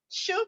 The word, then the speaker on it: choux: feet so yeah party choux pastry is a french type of pastry uh we use it to make things like puffs what we call puffs yes that's the correct smelling it's pronounced shoe we use it to